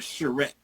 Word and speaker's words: charrette: It's called a charrette. Okay. How you spell that?